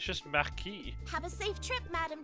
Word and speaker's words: Marquis: It's just Marquis.